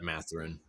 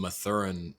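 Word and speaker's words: Mathurin: Benedict I don't know how do you say his last name math they're in is that matherine yeah I was calling him matheran all throughout the draft process I hadn't heard that before but yeah it's yeah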